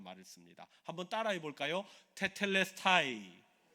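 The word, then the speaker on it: τετέλεσται: 이루었다라는 말이 헬라오 원어로 보면 무슨 말인지 하면 테텔레스타이라는 말을 씁니다. 한번 따라해 볼까요? 테텔레스타이텔레스타이 발음도 너무 좋으세요.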